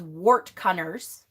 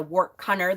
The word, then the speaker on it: wortcunner: Another way to think about this is usually herbalists or what's called wart cunners. That's an old term that is kind of coming back a lot, and it's spelled WORTCUNNER, is a wart cunner.